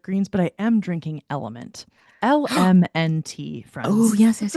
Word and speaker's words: LMNT: Element phonetically.